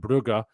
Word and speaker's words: Brugge: Bruges being the French one and Brugge being the Flemish one. Locals in Brugge say Brugge, not Bruges.